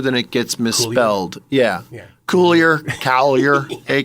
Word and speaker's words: Coulier: It gets mispronounced more than it gets misspelled. Yeah. Coulier. Hey, Coulier.